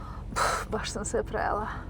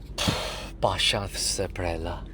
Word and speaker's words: Baš sam se prejela: Baš sam se prejela. Huh? But you have to say it this way. Baš sam se prejela. Pasha se prela.